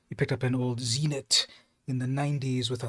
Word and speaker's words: Zenit: Is it Zenith? Leica Zenith or Zenit? Whoops. Let me spell this properly. No, it is Zenit. Zenit? Am I saying it right? A Zenit, Russian.